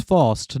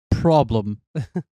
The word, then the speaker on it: Faust: You pronounce my name wrong. It's fast, not problem.